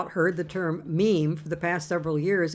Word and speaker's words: meme: My meme comes from the suitable Greek word, but I want a monosyllable that sounds a bit like gene. I hope my classicist friends will forgive me if I abbreviate my meme to meme.